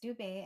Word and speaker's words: Dube: It's Dube, and Dube in the language of Isindebele in Zimbabwe means zebra.